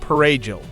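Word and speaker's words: perejil: In villages and fields, soldiers stopped people and forced them to pronounce the Spanish word parejil, parsley. Those whose accents betrayed Haitian Creole or who looked too dark. Those who could not roll the R in the Dominican way were marked for death.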